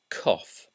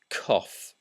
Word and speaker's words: cough: c u g is pronounced cough that's cough cough but OU isn't always pronounced that way and